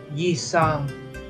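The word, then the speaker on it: Sang: name nice to meet you my name is yeang J is spelled with an I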